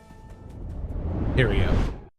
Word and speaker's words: Thériault: Tero. Tero. So, it's like Cheerio, but with a T.